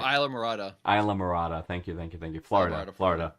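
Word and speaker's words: Islamorada: Is La Mirada? Is La Mirada? Am I pronouncing that right? Oh, Isla Morada.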